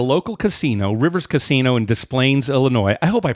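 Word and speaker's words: Des Plaines: casino Rivers Casino in displays Illinois I hope I pronounce that you know it's so funny because no it's with an S it's displays but I the thing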